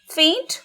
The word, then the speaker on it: feint: Next pair is also an important one, faint versus faint. These words are homophones, meaning they are pronounced in exactly the same way.